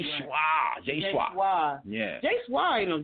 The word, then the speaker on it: J-SHWA: Is it J-SHWA? Absolutely. Thank you guys so much for having me on. Yes, it's J-SHWA, and it's a pleasure to be here, listening to you guys.